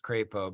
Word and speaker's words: Crapo: In accepting the flags, Michigan's governor, Henry Crapo, and it is pronounced Crapo, by the way, pledged that, quote, they will not be forgotten and their histories left unwritten.